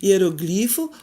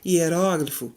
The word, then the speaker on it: hieróglifo: Hieroglifo ou hieróglifo, Oceânia ou Oceania, acrobata ou acróbata, projétil ou projetil, eletrodo ou elétrodo.